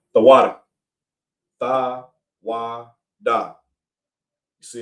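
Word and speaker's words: תודה: The water. The water. Tha, wa, da.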